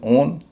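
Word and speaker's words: own: एक है ओ डब्ल्यू ई ओ दूसरा है ओ डब्ल्यू एन ओन और तीसरा है ओ डब्ल्यू एन आउल। दो में उच्चारण हो रहा है ओ एक में हो रहा है आउ।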